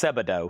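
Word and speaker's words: Sebadoh: It's pronounced Sebado. Thank you. Sebado. Thank you. I guess that's missing the, that's supposed to be the ah sound.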